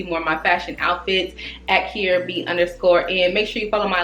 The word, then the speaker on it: Quiara: I am Kier B. It is spelled with a Q and it's pronounced Kier.